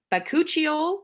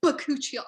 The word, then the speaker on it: bakuchiol: Okay, bakuchiol, is that how you say it?